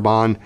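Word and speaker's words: Herbin: Erie so my favorite raban by the way the H is silent is vert atlantique the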